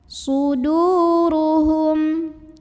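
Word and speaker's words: صدورهم: Suduruhum, ro-nya dibunyikan secara tafkhim karena ro-nya berbaris di atas. Maka bacanya tebal, pangkal lidah dinaikkan.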